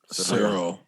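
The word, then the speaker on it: Ciryl: to gone now i was how do you pronounce his first name again cyril cyril cyril shout out to sarah gone um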